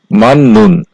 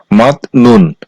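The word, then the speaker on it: 맞는: পরে নিউন আছে এজন্য এই শব্দটার উচ্চারণ হওয়ার কথা ছিল মাত ননুন কিন্তু বাচ্চিমের রুলস অনুযায়ী এই শব্দটার সঠিক উচ্চারণ হবে মাননুন 15 নাম্বার রুলস ক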